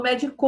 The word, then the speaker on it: médico: tônica é a antepenúltima então médico é uma palavra proparoxítona e tem acento o